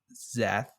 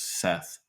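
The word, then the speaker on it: Szeth: Z's name is pronounced zth and not zth with an S the S is silent is that the name for you Jacob zth zth Z I thought it was Seth um no it's still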